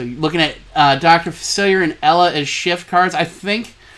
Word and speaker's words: Facilier: cards we've got a big version of Dr facilier facilier excuse me let me pronounce it right we have the two drop